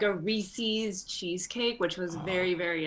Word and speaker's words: Reese's: i say this uh it's reese's pieces there was a person named rhys and the pieces are theirs it rhymes recently it's my number